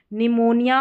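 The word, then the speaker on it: pneumonia: Number 13 पर है P silent. P और एन के कॉम्बिनेशन में। यहां पर देखिए निमोनिया और न्यूमेटिक।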